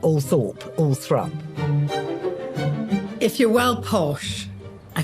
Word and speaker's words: Althorp: kid Diana's mother one day and I pronounced all Thorp and she said no Paul no thrup not all Thorp all thrup if you're well posh I think and go